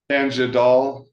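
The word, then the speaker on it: Tangdal: letter from Mr Lee I can't pronounce his name t a n g d a l I'm sorry Tang doll thank you bla Tanga doll thank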